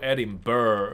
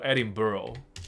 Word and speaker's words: Edinburgh: ，所以他不是念作 Edinburgh, 他念作 Edinburgh, 所以有一个这个 Borough 这个词就。